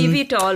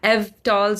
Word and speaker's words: eVTOL: my car one day it's eeve tall by the way oh uh but yeah EV TOS or Eevee talls however you wish to pronounce it is an electric